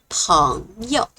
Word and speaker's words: 朋友: It's light and fast, a neutral tone, because 朋友 are supposed to be a phrase.